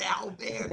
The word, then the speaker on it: Albert: And so I have to always remind them that my first name is Albert. That's it. It's the French pronunciation, born and raised in New Orleans.